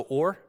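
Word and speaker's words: אור: But there's a homonym in Hebrew, a word that sounds the same but is spelled differently and means something different. It's also or, and the word or means light.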